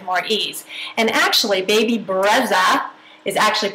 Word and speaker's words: Brezza: my diet with more ease and actually baby Breza is actually pronounced breta but it means breeze in Italian and this